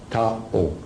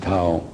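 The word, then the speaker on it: Thao: Now, to be easier for the lecture, her name is Tao, T-H-A-O, Tao. That's her name. You can pronounce whatever you want, but I pronounce it Tao.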